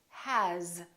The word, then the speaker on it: has: for example the word has it's spelled with an S but the sound is actually zoomed has here's another one this